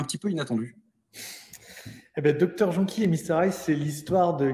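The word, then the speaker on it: Dr Jonquille et Mr Ail: J'ai bien prononcé? Oui, cofondateur, puisqu'on est 4. Alors, autant pour moi, cofondateur de Dr Jonky et Mr Hyde.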